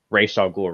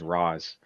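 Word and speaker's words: Ra's al Ghul: a short movie where they pronounced racial ghoul right it was always raws okay also like okay here's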